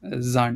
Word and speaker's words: Sand: it's the same but it is zand you don't say sand you say zand and I remember clearly